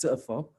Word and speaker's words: Tchofor: chopper dig so uh it's actually pronounced tougher okay you can it